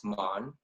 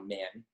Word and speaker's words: Man: Well, so before my grandpa immigrated to America, it was pronounced Mon. But ever since he moved to America, it's now Man.